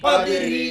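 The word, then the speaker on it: قدر: জবর কদকলা র জের রি র জের রিদরি কদরি ওয়াকফা করিলে র কে সাকিন করিয়া পড়িতে হয়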